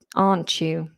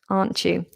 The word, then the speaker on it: aren't you: Aren't you? Aren't you? We have a ch sound within that.